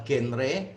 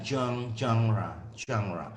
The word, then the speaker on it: genre: Jenis sastra teks ini atau Indonesia biasanya bilang genre, kalau yang benar itu bacanya genre. Jadi kalau nggak pilek, nggak flu itu susah untuk menjelaskan cara bacanya seperti apa. Nah, jadi ini bacanya genre ya, genre.